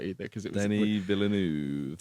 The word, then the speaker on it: Villeneuve: that was right either, because it was Denis Villeneuve. Villeneuve it is. Villeneuve.